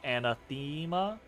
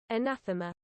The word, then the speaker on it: anathema: same as you but the accent is on the second syllable and nathama so anathema and now and and wait my brain just broke I'm just now I have to look it up anathema anathema okay all right all right